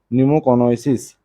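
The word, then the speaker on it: pneumoconiosis: तो पहला ऑप्शन है मरकरी पॉइजनिंग, दूसरा है आपका न्यूमोसोनोसिस, ठीक है, इसको बोलते हैं न्यूमो, देखिए न्यूमो पी साइलेंट होता है, ठीक है, तो न्यूमोकोन ओइसिस, ठीक है, न्यूमोकोनोसिस।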